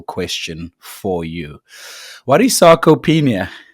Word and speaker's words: sarcopenia: What is sarcopenia? Firstly, is that how you say it?